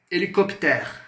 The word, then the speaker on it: hélicoptère: Quando utilizarmos o H em francês, ele é muet. Então, c'est une lettre muette. É uma letra muda. O H ele é mudo em francês, tá? Então, por exemplo, hélicoptère. Hélicoptère.